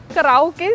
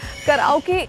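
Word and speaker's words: karaoke: कराओ के सिंगिंग कराओ के इज the wrong pronunciation. I know the spelling is like a little difficult के ए आर ए ओ के ई बट जो उच्चारण है इसका जो प्रोनंसिएशन है that is कैरी ओकी कैरी ओकी simple कैरी ओकी।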